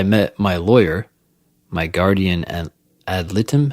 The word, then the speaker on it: ad litem: It was not until I met my lawyer, my guardian ad litem.